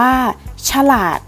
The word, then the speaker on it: ฉลาด: เสียง เท่า นั้น ค่ะ ฉลาด อ่าน ว่า ฉลาด คำ ว่า เฉรา จะ อ่าน ออก เพียง แค่ เครื่อง เสียง เท่า นั้น ค่ะ สบาย อ่าน ว่า สบาย